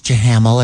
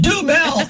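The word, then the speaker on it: Duhamel: Does he look like Josh Jahamel or whatever his name is? I don't know. dreamy. It's pronounced Dumel, ass face.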